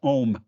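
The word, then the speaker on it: Ogham: that are Oh Come it's just pronounced om by the way yeah I know it it looks like ogum but it's just pronounced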